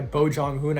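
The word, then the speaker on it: Bong Joon-ho: Mickey 7, it's going to be directed by Bo Jong-hoon. I think that's how you pronounce his name.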